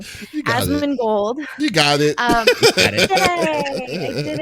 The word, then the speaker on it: Asmongold: Asmongold.